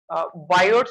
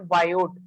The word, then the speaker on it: Biot: you can say between biode server flow actually this is not a biode this is only bio T is silent bio servers bio servers